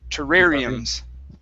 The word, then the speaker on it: terrariums: are rooms okay now remember in english uh even though there are two r's we only pronounce one okay so this word is terrari terrariums all right all right